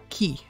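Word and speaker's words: き: Pronounced the exact same way. Key.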